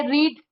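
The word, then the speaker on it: read: Today I रीड new book. Second form हो जाएगा। Spelling तो वही रहेगी। आई रेड अ new book today.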